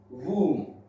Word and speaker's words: womb: Now, if we talk about B, at the end of the word, okay, at the end of the word, after M, B is silent. Like comb, tomb, bomb, womb.